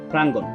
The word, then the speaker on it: প্রাঙ্গণ: প্রাঙ্গণ শব্দের সঠিক উচ্চারণ এটা হচ্ছে ফর ফলা আকার উর নিচে হসন যুক্ত গ এর সাথে ওকার ন হস সংযুক্ত প্রাঙ্গণ 19 হচ্ছে ধ্বনি উচ্চারণের